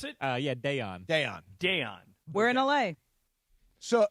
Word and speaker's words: Daiyan: BC, do you know how to pronounce it? Yeah, Dayon.